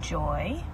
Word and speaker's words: Joie: okay congratulations how do you say your name joy personality thank you I'm so proud I saw